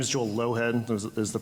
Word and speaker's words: Lougheed: My name is Joel Lowhead. Is the pronunciation?